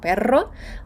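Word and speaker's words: perro: але Майте на увазі якщо стоїть подвійна р ми її розтягуємо І кажемо Перро А якщо вона одна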